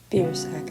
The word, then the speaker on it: Biersack: my eyes and waited for a few moments beer sack I said it's pronounced beersack women gave me a smile and